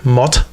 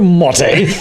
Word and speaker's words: Motte: Tyler Motte. Do you have any Grey Poupon? Tyler Motte. I think it's Mott. Mott. Yeah. Then just say M-O-T. Don't put the 2 T's and an E.